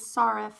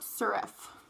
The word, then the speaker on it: Sirref: shy now it's spelled like shinel but it's pronounced Chanel and then this is sarif not serif I think is how I do it so